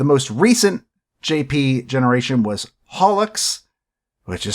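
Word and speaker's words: holoX: of music the most recent JP generation was holux which is spelled Hollow X but it's pronounced holux because Yago doesn't know how English Works uh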